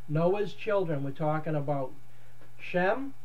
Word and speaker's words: Shem: We're talking about Shem, which is actually pronounced more like Sham or Shame. Shame is actually the best pronunciation of it.